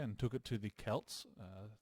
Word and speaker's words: Celts: took it to the Kelts thanks Mr crapley for correcting my poor pronunciation of Kelts I kept saying Celts for some reason uh and we defeated